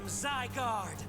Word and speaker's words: Zygarde: I am Zygarde. Oh, it's Zyg. It is Zygarde.